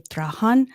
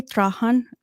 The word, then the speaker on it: Trahan: something like that, but I say Trahan is my. Okay. Yeah, I can't pronounce it differently. So my husband says that, it is the way that has to be pronounced.